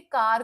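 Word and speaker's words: car: ठीक है, काफी जगह, काफी सारे प्रोनाउंसिएशन में कार को आर नहीं बोला जाता, का।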